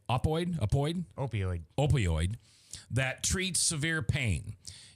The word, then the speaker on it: opioid: pain and was prescribed oxy codone did I pronounce that right Joe you did okay uh it is an opoid opoid opoid opioid opioid that treats severe pain in the beginning